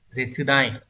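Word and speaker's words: 絶大: Từ này được đọc là Zetsudai.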